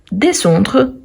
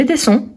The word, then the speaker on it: descend: même descend descend descend on ne prononce pas le D à la fin nous descendons vous vous